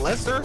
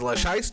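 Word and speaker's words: Leicester: they up in there that's how you say it Lester yo this place is a ho yo shout out to ree man this is where he was born and raised I thought it was leyer okay I'm sorry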